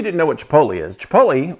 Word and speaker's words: chipotle: In case you didn't know what Chipotle is, Chipotle, or or I've heard friends of mine called chipotles and chipotles and all that kind of really bad pronunciation.